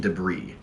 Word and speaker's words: debris: No, we need ancient debris. Debris is spelled, so why is there an S at the end of debris? Well, I guess it's French.